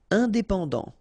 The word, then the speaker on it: indépendant: Indépendant. Final T not pronounced.